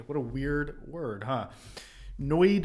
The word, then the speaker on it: NOID: a weird word huh noid is how Assam officers pronounce and lawyers pronounce this noid called a notice of